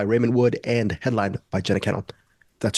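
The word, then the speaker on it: Jenna Kanell: 17th, directed by Raymond Wood and headlined by Jenna Cannell. That's how you pronounce her name.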